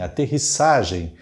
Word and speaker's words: aterrissagem: problema na segunda expressão o correto é aterrissagem a pronúncia é assim aterrissagem amerissagem pousar no mar alunissagem pousaram na lua aterrissagem com duplo s duplo s portanto errado halternativa é